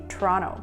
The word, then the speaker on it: Toronto: 咁所以佢哋咧就未必會讀 Toronto，佢哋反而咧係會讀類似 Toronto 咁樣嘅。